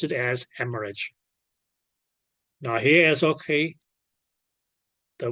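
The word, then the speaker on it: hemorrhage: e okay which actually become as okay you pronounce it as hemorage now here is okay the word r r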